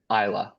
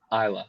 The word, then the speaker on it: Islay: interview she's just like isla and i'm like huh isla i was like i have no idea what you're talking about that's your favorite type of whiskey that's how it's pronounced and i was like